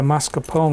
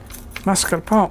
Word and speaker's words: mascarpone: nonetheless she pronounced it mascarpone. Well, she pronounced it mascarpone, as if the R was in the first syllable. It's in the second syllable.